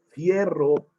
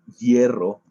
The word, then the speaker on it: hierro: que nos hablan de que tienen magnesio y fierro. Perdón, lo pronuncié intencionalmente así como fierro para que recuerdes esta FI. Si nosotros recordamos cómo abreviamos al hierro en la tabla periódica, tú recordarás que no